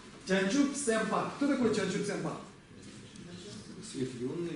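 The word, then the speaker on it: བྱང་ཆུབ་སེམས་དཔའ: Здесь у нас да предписная, а у нас приписная не читается, и здесь па читается. Чанчуп сэмпа.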